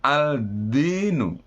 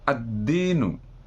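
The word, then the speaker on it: الدين: Dal ini yang pertama contoh tulisannya aldinu maka membacanya adalah addinu kemudian berikutnya allailu tetap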